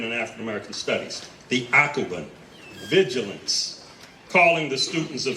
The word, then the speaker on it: Akoben: One, the theme, if you look at your program in what is the left upper corner, you'll see a word named, pronounced AKOBEN, A-K-O-B-E-N.